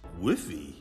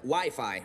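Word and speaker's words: Wi-Fi: cut especially from the less commonly recognized Studios wiffy or wifey it's actually pronounced WiFi Ralph yeah that's what I said all right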